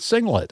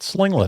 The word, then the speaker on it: singlet: And, I can't pronounce the word singlet. I'm calling it slinglet, apparently. So that sucks.